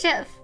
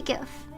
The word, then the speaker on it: GIF: I pronounce it JIF.